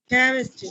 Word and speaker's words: chemistry: সিএস খ হবে মূলত যে সমস্ত গ্রিক ওয়ার্ড আছে, সায়েন্টিফিক ওয়ার্ড আছে, যেগুলো সায়েন্টিফিক ওয়ার্ডের ক্ষেত্রে এটা খ। তার বুঝতে পেরেছি? সায়েন্টিফিক ওয়ার্ড যেগুলো, যেমন কেমিস্ট্রি, কেমিস্ট্রি, Yes. Chemistry.